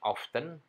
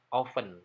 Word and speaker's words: often: punya arti sering dibacanya sering kita dengar bacanya often pakai teh padahal ini hanya dibaca oven tanpa t ahli-ahli asli oven bukan